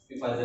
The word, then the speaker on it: Pfizer: है आपका पीफाइजर, PFIZER, पी इसमें साइलेंट है, फाइजर बोलते हैं ऐसे, फाइजर, पी साइलेंट होता है इसमें, फाइजर, बट पीफाइजर भी बोलते हैं, ठीक है।